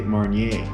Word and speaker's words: Marnier: r is a consonant so i say marnier as in grand marnier i mean we could